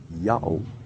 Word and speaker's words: Ya'oh: The third sign, which looks like a vertical line, is in fact the divider, a letter between two successive syllables in order to indicate a glottal stop between syllables. The pronunciation is Yao without question, just as Prof.